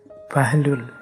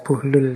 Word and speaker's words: Buhlul: namanya bukhlul bin Amr ini ada yang membacanya bahlul ada yang membacanya buhlul saya milih Membaca buhlul saja ya jadi beliau ini dikenal